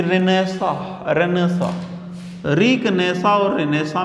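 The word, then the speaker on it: Renaissance: पढ़ा होगा कभी कि रेनेसा, रेनेसा। रिकनेसा और रेनेसा में दोनों में अलग रेनेसा, ये वर्ड पढ़े होंगे। रेनेसा, रेनेसा, ये एनसी है ना पीछे, ये साइलेंट है, बोला नहीं जाएगा।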